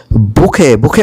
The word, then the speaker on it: bouquet: বুকে মানে হলো ফুলের তোড়া, এখানে BOUQUET, টি থাকলেও কিন্তু টির উচ্চারণটা উজ্জ্বল।